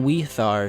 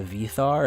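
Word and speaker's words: Víðarr: at the start, but the name Weithar should actually be pronounced with a W, and I'm not sure why they changed it from Weithar to Vithar, especially since W's are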